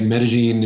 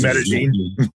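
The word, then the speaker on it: Medellín: Medellin is, for one, that's the way the locals pronounce it. Everybody else knows Medellin.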